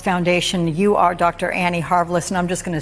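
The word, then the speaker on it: Harvilicz: you are Dr Annie haris and I'm just going to say this your last name rhymes with marvelous so if anybody's looking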